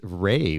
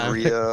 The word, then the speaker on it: Rea: my last name right everybody says Ria or rea it is R EA he was practicing all